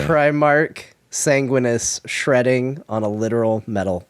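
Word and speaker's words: Sanguinius: Sanguinus. He said, my brother in a belting. What did I say? Primarch Sanguinus shredding on a literal metal guitar.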